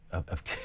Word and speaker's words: Keir: really a defence of Keir Starmer in any way, but if his name, Keir, didn't rhyme with tear, would we be, in